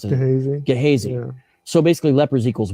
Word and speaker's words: Gehazi: I always mispronounce it. Gehazi.